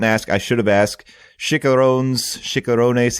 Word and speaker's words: chicharrones: Chicharrones. How do you say that? I think it's chicharrones. It's their pork rinds. Yeah. Mm-hmm. And I believe your pronunciation was correct the first time.